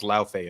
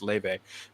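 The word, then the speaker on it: Laufey: I thought it was Laufe at first, but apparently it's pronounced Leve. Does this amazing like bossa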